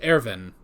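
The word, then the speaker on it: Erwin: long time but um but in this episode ervin which that's another one it's spelled uh irwin but it's pronounced airven which actually that one i'm totally fine with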